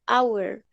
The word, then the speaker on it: hour: dice aun si no se dice hour y suena como si fuera una vocal no suena como si fuera como si se usara la correcta organización de la chelista es una excepción de la pronunciación de la h entonces como suena como